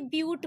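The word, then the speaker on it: but: 4 carbon जुड़े होते हैं तो उसे ब्यूट बोलते हैं, लेकिन स्पेलिंग इसकी बट के जैसे होती है, बट आप इसको अंडरस्टूड करेंगे ब्यूट के जैसे।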